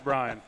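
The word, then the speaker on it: Bryan: It's not Ryan, it's Brian.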